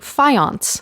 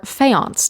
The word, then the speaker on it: faience: A lot of the material is actually faience, or faience, depending on how you would like to pronounce it, which is a type of ceramic with a bright colored glaze.